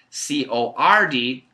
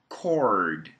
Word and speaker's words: cord: e code code code c o r d cord cord cord so once again it's the r sound and I know in